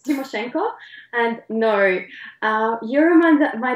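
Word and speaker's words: Tymoshenko: no no I mean yes of course you pronounce it correctly it's timoshenko and no uh you my dad was not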